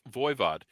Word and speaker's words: Voivod: that's what it is when he says voivod he pronounces it the french way he's pronouncing it correctly but it always cracks